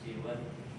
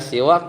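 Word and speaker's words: سوى: maka sesungguhnya ketika dikatakan siwa yuqalu fiha siwa karidon. Jadi siwa itu dibacanya dikasrohkan seperti huruf sinnya, seperti wazan ridon, ridho. Suwan seperti hudan, samaun samain, ya kan?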